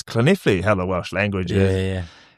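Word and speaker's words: Llanelli: I went, "I'm talking to this team in West Wales called Lannor." He goes, "You mean Clint?" I went, "No, Lal is spelled L." You know, like like that. He goes, "No, it's Clene.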